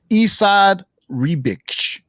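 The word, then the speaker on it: Esad Ribić: So in the last video, shout out to Angel Eyes, who gave me the correct pronunciation on it, and I put it in there. It's Isad Ribic.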